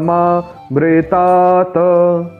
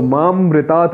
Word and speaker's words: मामृतात्: हमेशा रे होता है तो मामृतात् नहीं माँमृतात मित्रों मैं आशा करता